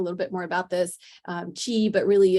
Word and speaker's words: qi: to talk a little bit more about this, chi, but really it's, QI, but I ended up just kind of spelling it phonetically.